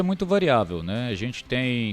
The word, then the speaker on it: Tae: Te, que se escreve tai, né?